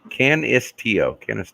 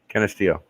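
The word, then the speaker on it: Canisteo: Can is like a long I S? Canistio. Canistio.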